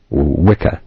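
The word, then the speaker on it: Wicca: for religious worship that's the Vic and vika wika as it's pronounced today implies a woman supposedly having Supernatural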